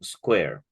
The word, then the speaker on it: SQ3R: something that is called Square we we actually pronounce it a square but we spell it sq3r or Square what does